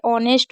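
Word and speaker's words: honest: जैसे ऑनेस्ट हो गया, इसमें एच को नहीं पढ़ा जा रहा।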